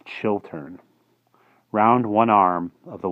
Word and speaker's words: Chiltern: Tanakh the Chiltern chalk I keep pronouncing that area wrong it's chill turn round one arm of